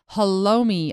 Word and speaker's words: halloumi: The blocks of cheese were identified as halloumi, I believe is how you pronounce that.